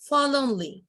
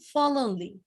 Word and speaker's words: forlornly: When you write down, you have to write R and R, but when you pronounce, you have to say forlornly. Forlornly না, forlornly, ঠিক আছে?